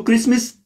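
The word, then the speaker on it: Christmas: आप देख लें लिख के, क्राइस्ट मास, या जिसको टी फिर साइलेंट आ जाता है जब हम कहते हैं क्रिसमस, लेकिन जब लिखा जाता है तो हम कहते हैं क्रिसमस यानी कि टी के साथ।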